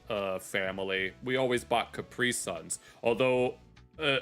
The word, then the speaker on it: Capri Sun: We always bought Capri Suns. Although uh allegedly the real pronunciation is Capri Sun since it's a German company. So it would be Capri Sun.